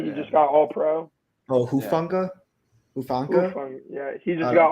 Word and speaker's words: Hufanga: I believe that's how you say his name, Mufunga. The safety, he just got All-Pro. Oh, Hufanga?